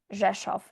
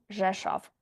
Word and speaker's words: Rzeszów: And our next destination is Rzeszów. R is not pronounced.